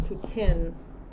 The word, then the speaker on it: poutine: I did hear it's pronounced poutine.